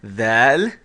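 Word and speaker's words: ذال: Now I'm going to write the dhaal as a DH. But of course, that's just an approximation for how the dhaal is actually pronounced in Arabic.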